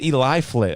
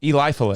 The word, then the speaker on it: Eliphalet: It's Eliphalet Miller Ford the Fourth. His name is Eli Flit.